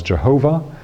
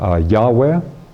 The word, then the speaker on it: Yahweh: in English often of being given as Jehovah, or in some renderings of it from the original language is something closer to Yahweh. There are some indications from the Kabbalistic text that the true pronunciation of it actually is all vowel sounds.